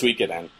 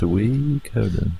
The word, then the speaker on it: Suikoden: I believe that's pronounced Suikoden. Alberta, Alabama. Suikoden. Suikoden. Suikoden. It's like the... It's when you're talking to pig. It's Suikoden. Suikoden. You gotta do it with the Sui as well.